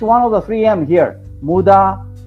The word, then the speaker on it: Muda: Muda, Mura, Muri. You know, those are 3 words starting from mu, mu, mu.